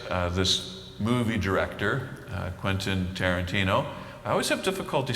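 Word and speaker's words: Quentin Tarantino: Some of you will will recognize uh this movie director uh Quentyn Tarantino. I always have difficulty saying his name, Andy. Quentyn Tarantino. Am I saying it correctly? Yes. Quentyn Tarantino.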